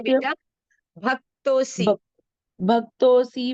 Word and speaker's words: भक्तोऽसि: स एवायं मया ते अद्य योगः प्रोक्तः पुरातन भक्तो असि मे सखा चेति असी नहीं है रहस्य बेटा, भक्तोसी।